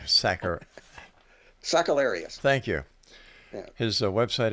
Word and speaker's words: Sakellarios: Stephen SAKELLARIOS is our special. I said your name wrong, didn't I? That's okay. All right, Saker. SAKELLARIOS.